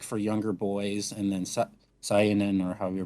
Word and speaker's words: seinen: So like for younger boys, and then Seinen, or however you pronounce it, is for Seinen. Seinen, like Seinen, kind of like like Super like Saiyans? say like like Saiyan, Saiyan, yep. except with an N in it.